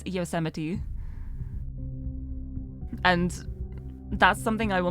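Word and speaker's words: Yosemite: and I was like oh yoite yite and then I was informed that it's yiti and that's something I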